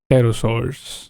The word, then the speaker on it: Pterosaurs: Pterosaurs. Often pronounced with a silent P, were flying reptiles that lived alongside dinosaurs and were technically not dinosaurs themselves.